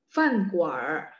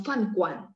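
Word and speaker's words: 饭馆儿: Fan guar, fan guar. Tuo, tuo, nada satu. Fan guar. Kalau teman-teman kesusahan R, nggak apa-apa. Yang praktikal aja teman-teman bilang fan guan.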